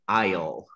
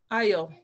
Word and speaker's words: I'll: Sí, y recuerda pronunciar esa palabra con L, I'll. I'll.